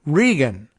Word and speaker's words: Regan: President Dave Regan tells NPR, I assume he pronounces it Regan as R-E-G-A-N. That's the way Don Regan used to do it.